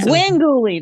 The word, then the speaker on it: Gwengoolie: Pronounce it for me. I know Svengoolie, but it's like Svengoolie and then Gwengoolie. Yeah. Gwengoolie, that's right.